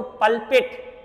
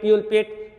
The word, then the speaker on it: pulpit: अब एक वर्ड मैं दे रहा हूं आपको, पल्पिट, PULPIT, इसका प्रोनाउंसिएशन अलग अलग हो सकता है, पल्पिट, प्यूलपिट, ठीक है, लेकिन होता क्या ये बहुत इंपॉर्टेंट है।